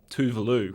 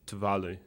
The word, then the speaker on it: Tuvalu: Everyone that I worked with would just naturally say Tuvalu, and I was able to remind my colleagues that the locals would actually pronounce it Tuvalu.